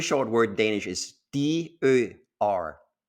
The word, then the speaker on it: dør: If you pronounce it dør, it means door. Now, the exact same word, if you pronounce it dør instead, now means dies. Same spelling, same three letters, can be pronounced dør or dør.